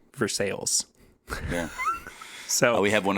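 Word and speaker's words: Versailles: I kid you not this is what the name of the town is even though it's spelled Versa verses yeah so we have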